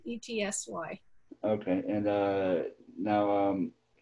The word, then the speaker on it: Etsy: was uh uh uh your stuff is on itsy or etsy is that how he pronounces etsy that's the etsy okay and uh now